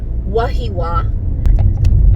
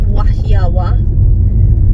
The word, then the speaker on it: Wahiawa: but it's written Wahiawa And a lot of people here pronounce it wahiwa. She was saying that it's pronounced wahiawa because of the marker on top of the vowels.